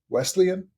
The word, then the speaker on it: Wesleyan: In Indiana, Wesleyan, is that how you say it?